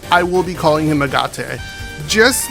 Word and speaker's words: Agate: that to me I know his name is pronounced agot but that name sounds too close to something